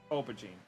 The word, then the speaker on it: aubergine: okay okay one but yeah it's it's actually pronounced over Gene aubergine interesting dot dot what's the verdict it's the